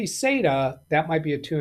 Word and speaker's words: SATA: Here We Go Again M data or SATA yeah SATA m.2 SATA that that's I think is the right way to say that it's an m.2 SATA